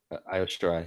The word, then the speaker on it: Io Shirai: How do you pronounce it? Low? Io Shirai? Io Shirai, yeah.